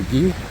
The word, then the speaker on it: Guy: up to Guy Street or geek however you prefer to pronounce it whether it's English or French English would be guy English would be a guy that should be ghee and the C